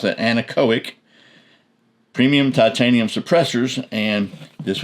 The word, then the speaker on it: Anechoic: So, this is the Anechoic, that's how you pronounce that, Anechoic premium titanium suppressors.